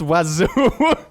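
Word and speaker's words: oiseaux: Birds is weird in French. No letter is pronounced the way it should, and there are 7 of them. It's pronounced wazoo. And yes, I will die mad about it. Wazoo hits every vowel in the French alphabet and manages to only be pronounced with 2 goddamn syllables.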